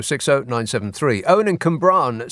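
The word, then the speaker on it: Cwmbran: oh 973 Owen and cumbran says the current in Brackets it's got pronounced k-u-h-m-b-r-a-a-n yeah I know Owen and cumbran says the current narrative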